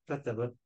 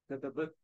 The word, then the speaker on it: كتبت: So when you say كتبت, the تاء is silent, that means تاء التأنيث.